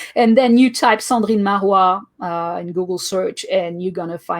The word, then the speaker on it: Cendrine Marrouat: But if that's the case, then I'll have to use, and I'll never be able to pronounce it, so maybe that won't work. But Cendrine Marrouat.